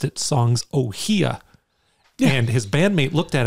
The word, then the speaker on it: Ohia: is like Ohio is ohia is like a flower and that's how you pronounce it and every single person